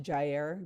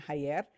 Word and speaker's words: Jair: And so, and his name is pronounced Jair, just FYI, it's not Jair.